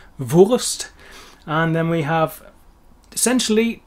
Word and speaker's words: Wurst: umlaut but but lazy the correct pronunciation for the word sausage is of course voist vost and then we have